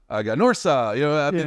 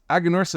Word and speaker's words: Aganorsa: So some people ask us, oh, how do you spell it? How do you say it? Aganorsa, Aganorsa. There's many different ways, but it's Aganorsa is a lot easier than Agricola Granadera Norca S.A., right?